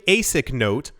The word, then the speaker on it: Blockstream ASIC Note: the blockstream basic note so it's blockstream Asic note but it's spelled out in basic a Bitcoin denominated in